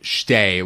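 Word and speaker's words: שתי: And so one of them is that the number two, the first syllable of the word, the shin, gets sort of collapsed with the next syllable. So when you say shtei fe'amim, it really needs to be shtei with one syllable.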